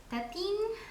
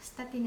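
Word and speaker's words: Stettin: why from now on I'm going to pronounce it as stetin stetin is the German pronunciation um St used to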